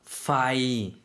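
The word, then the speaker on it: ไฟ: 불전등 파이 F 발음입니다.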